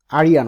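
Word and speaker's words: Arjan: সেটা হচ্ছে এই আরিয়ান ওরা বলে উচ্চারণ আসলে, কিন্তু লিখতে আরজান কোডস।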